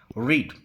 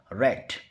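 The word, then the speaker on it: read: जैसे रीड की first form में हम इसे प्रोनाउंस करेंगे रीड, लेकिन जब हम सेकंड फॉर्म बोलेंगे तो स्पेलिंग तो सेम रहेगी, लेकिन प्रोनाउंसिएशन थोड़ा सा अलग हो जाता है, और यहाँ पर इसका प्रोनाउंसिएशन होगा रेट, और थर्ड फॉर्म भी हो जाएगी रेट।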